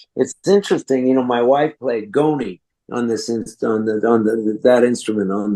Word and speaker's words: Ngoni: And she brought home a goni, which it's actually N''G''O''N''I, Ngoni is how you pronounce it.